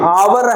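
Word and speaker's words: hour: तो यहां पर ए लिखेंगे तो हावर हो जाएगा। हावर नहीं है ये। आवर है तो यहां पर आवर इसका जो प्रोनंसिएशन है उच्चारण है वो आवर है।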